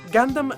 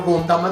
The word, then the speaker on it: Gundam: non dare una valle gandan viene quindi pronunciato come le sue parole di origine nel resto del mondo naturalmente non sto dicendo che non dovete mai più chiamarlo conta una dopotutto è ormai conosciuto